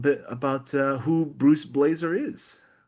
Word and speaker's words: Blaser: Uh having a last name of Blazer is pretty good here in Portland if you follow the NBA. Um but it's spelled with an S instead of a Z.